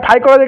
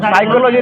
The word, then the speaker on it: phycology: बताइएगा फाइकोलॉजी का स्पेलिंग बताइएगा PHYCOLOGY। ठीक ना, उसको साइकोलॉजी ना फाइकोलॉजी, उसमें P साइलेंट रहता है इसलिए पूछ लिए।